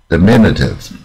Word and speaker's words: diminutive: 你自己先念念看。Diminutive, diminutive, diminutive, 啊，重音在 m 这边。Diminutive, 啊，diminutive。